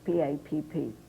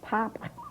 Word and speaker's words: Papp: I forgot, but I'm so glad I was even wondering, how do you pronounce P-A-P-P? Pap or Pop? Pap. Pap. And what can you give any sensible advice to budding playwrights?